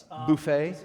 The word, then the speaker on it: Buffett: mr jimmy buffett jimmy buffet yes buffet we're pro pronouncing it the french way because we're a class act here you know we're